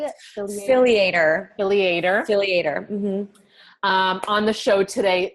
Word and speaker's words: Filliater: Filliater.